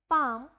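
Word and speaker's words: palm: तो आपको यही प्रोनाउंसिएशन ही सीखनी है कि अगर वोवल ए और यू के बाद एल का यूज किया जाता है तो वहां पे जो आपकी एल की साउंड है वो नहीं आती है, वो वहां पे साइलेंट हो जाती है। हाफ, पाम, ये सब क्या होती है, विदाउट एल के वर्ड्स होते हैं जिसमें एल को साइलेंट रखा जाता है।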